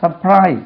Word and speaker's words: surprise: சர்ப்ரைஸ், சர்ப்ரைஸ், சர்ப்ரைஸ்ட், SUR காணல பாருங்க இதில். சர்ப்ரைஸ் சொல்லி சொல்லி அந்த ஆரே காணல.